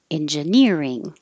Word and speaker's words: engineering: ing is a suffix look at the word engineer e e r is going to be stressed same career agree the